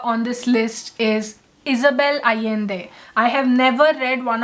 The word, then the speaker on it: Allende: her name is pronounced, and that is Isabel Allende. The LL is pronounced ya. Isabel Allende. Isabel Allende is a Chilean writer, and she is the world's most widely known Spanish language writer.